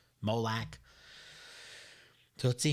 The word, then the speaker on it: Moloch: in the name of moloch malik however you're going to pronounce it molak so let's see how